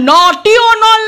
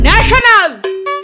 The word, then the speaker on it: national: আই ন্যাটি ও এন এ নাটি কি ওটা নটিওল না ওটা ন্যাশনাল বল কি লেখা আছে বল ন্যাশনাল কান্না বন্ধ